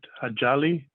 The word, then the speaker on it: Ajali: coming next i believe your name excuse me if i mispronounce it ajali you pronounce it perfectly fine thank you excellent um